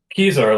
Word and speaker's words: Keysar: do you say that keys are like you know where my keys are I wish I knew